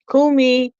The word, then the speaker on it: Kumihimo: Kumihimo. Yeah, I said it right. I actually said it right.